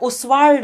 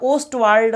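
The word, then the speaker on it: Ostwald: 40 number और अंतिम सवाल देखिए, कर रहा है ओस्वाल्ड विधि, प्रोनाउंसिएशन क्या होता है, ओस्टवाल्ड प्रोसेस या ओस्टवाल्ड मेथड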